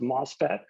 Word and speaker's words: MOSFET: They have the name MOSFET, it's pronounced MOSFET.